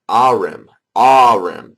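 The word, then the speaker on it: Ahrim: not dck so anyways um Aram which is pronounced a or a arim arim that's that's correct ahm anyways veric which is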